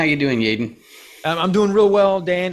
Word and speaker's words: Yeadon: i'm joined today with jaden smith yes it's pronounced jaden how you doing jayden i'm doing real well dan it's easy to